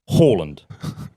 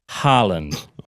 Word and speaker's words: Haaland: No, my position is if you were pronouncing it in Norway and he is Norwegian. In Norway, okay, it would be Haaland.